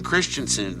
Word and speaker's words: Christensen: good cuz they keep I got memos that say uh it's Hayden Christensen I said well I said that they said no you said Christian hadenson I said oh